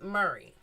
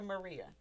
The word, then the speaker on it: Maria: you said that because a lot of people pronounce it Murray. No. Maria.